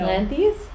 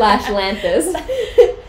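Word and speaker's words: Lanthys: the real question is how do you say his name Lanes lantis I say lantis lantis lantis like yeah L Lanes I think L Lan no Lanes no Lanes no it's lantis okay Lanes SL lantis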